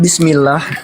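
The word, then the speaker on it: بسم الله: Pada saat diucapkan bismillah, ya kan? Lafaz Allah di sana diucapkan tipis tuh, bismillah gitu, bukan bismillah ya. Nah, karena apa? Sebelum lafaz Allah di sana itu ada harokat kasroh gitu, harokat kasroh, makanya dibaca tipis.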